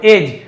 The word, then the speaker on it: edge: Near यानी पास में, एज यहां पर भी डी को नहीं पढ़ेंगे, एज यानी होता है किनारा, ऑफ यानी के, द पॉन्ड यानी तालाब।